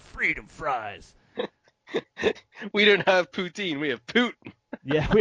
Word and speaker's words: poutine: but would call it poutin Putin yeah well like the the English way is Putin but like the right way is Putin Putin I I thought you were